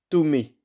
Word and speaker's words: Thomé: Il s'appelle Ettore Sotsas, de l'objet à l'environnement, de Philippe Thomé. Thomé, ça s'écrit T-H-O-M-E.